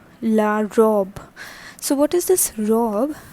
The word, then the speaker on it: robe: is the butterflies all right next is la robb la robe so what is this rob that is actually